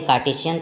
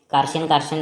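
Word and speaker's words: Cartesian: तो जो एक्स वाई वाला तरीका है उसको घटिया अंग्रेजी लोग नाम दिए कार्टेशियन प्लेन। ठीक से प्रोनाउंस नहीं होता था मेरे से तो पहले, कार्शियन बोलता था मैं।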